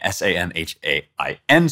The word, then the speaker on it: Samhain: And the Gaels celebrated a holiday called Samhain, which is spelled Samhain, S-A-M-H-A-I-N.